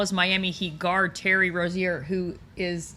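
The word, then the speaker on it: Rozier: And uh am I pronouncing his name wrong? Rosier. Rosier.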